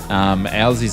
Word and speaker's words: Owsy: And I was messing up his pronunciation of his name. So now, obviously, I know it's Owsy, but I just call him Oozy just because the fun of it.